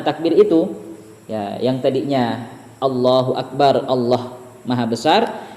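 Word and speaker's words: الله أكبر: Yang tadinya Allahu Akbar, Allah Maha Besar. Ketika kita memanjangkan Allahu Akbar, maka itu akan menjadi istifham, akan menjadi pertanyaan yang artinya apakah Allah maha besar?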